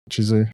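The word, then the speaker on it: Chizu: And then Studu Chisu. Shisu. Am I saying it right? Chisu.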